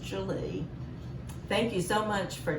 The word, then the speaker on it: Gwili: Yes, I know when you see it spelt, you think there's no way that that's how you pronounce it, but it's pronounced Julie.